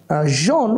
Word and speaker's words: genre: Two syllables. Can you give clap for the last time? Genre. And the stress is on the first syllable. So, genre will be pronounced in the high scale. Genre. And ra will be in the middle scale.